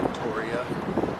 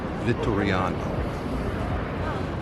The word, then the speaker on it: Vittoriano: Flags at the Victoria have nothing to do with flags. You're right, they don't. So, I've been saying it wrong for the last few minutes. It's the Vittoriano.